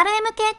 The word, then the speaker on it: RMK: けど若い子は RMK って読む率高いルミ子なんて呼び方初めて知ったショップでも雑誌でも RMK だよね友達もインナー R